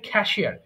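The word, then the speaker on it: cashier: কাঠমিস্ত্রী খারপেন্টার কাঠমিস্ত্রী খ্যাশিয়ার এটা খ্যাসার হয়ে গেছে উচ্চারণ হবে খ্যাশিয়ার খ্যাশিয়ার হিসেব রক্ষক কেমিস্ট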